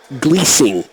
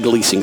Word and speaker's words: Glusing: Jamie Gleasing. It's spelled Glusing, but it's pronounced Gleasing, so I beg your pardon to those who are family or watching back home.